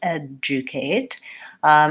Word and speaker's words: educate: words so for example in the word educate there's no J and there's no G but we have the just sound adju Kate similarly in procedure so